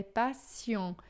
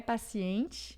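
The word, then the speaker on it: patient: vai ser com o som de com a letra T, mas com o som de C, tá? Então lamur é passion e não é paciente, mas é passion. O T final a gente não pronuncia e o en vai ficar on bem fechado.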